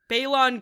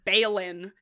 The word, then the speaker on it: Balon: And it starts in this scene where cuz we say like Balon Greyjoy and they say Balin and I'm like who's ba are we bailing someone out of jail?